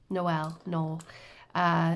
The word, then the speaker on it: Noel: His name was Noel is how they pronounce that in Ireland.